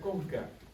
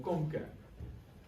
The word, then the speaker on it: concha: noales y se pronuncia Conca ya en español esto es una palabra de origen latín Concha pero al español se traduce como Conca la Conca nasal puede